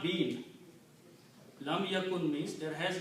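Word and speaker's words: لم يكن: Waw will say, okay, I'll sacrifice myself to pronounce. So this word will become ya kun. Lam yakun.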